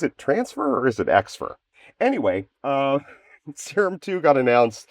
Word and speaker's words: Xfer: I I guess you I pronounce that Xfer Records. In my head, I always think about it as being transfer records.